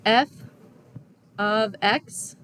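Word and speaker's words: f(x): It's pronounced f of x. It does not mean like the f times the x.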